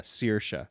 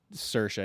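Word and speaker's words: Saoirse: Freedom so it's um you know the proper pronunciation is uh CA yeah but you know you just when you're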